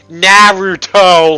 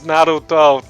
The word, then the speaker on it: Naruto: like no absolutely not you have to pronounce the r with the accent it's Naruto that you can't just it's not Naruto you can't you can't just come in with that English sound there's no ah there you